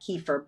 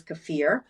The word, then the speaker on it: kefir: do I do cafir a lot of you pronounce that kefir but it is cafir uh that drinkable yogurt